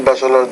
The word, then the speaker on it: bachelor: For now, I would say that I have 2 bachelor degrees. You want to say 2 bachelor degrees. Bachelor. That CH sound is hard for you as we already discussed.